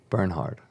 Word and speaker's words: Bernhard: Yeah, like burn hard. All right, Bernhard. Is that how you pronounce it? Mm-hmm. I Bernhard. got Bernard my whole life. Bernard, yeah, that's what I would think. And I'm just like, but there's an H there.